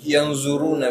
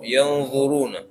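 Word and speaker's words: yadzuruna: Ya, sebagian kita masih salah membacanya yang zuruna padahal bukan zo. Ini dha, yang zuruna. Yang zu. Dan dia bukan za, bukan dha, bukan za. Dia dha. Dha. Jadi lidahnya lebih melebar dan nempel ke gigi atas.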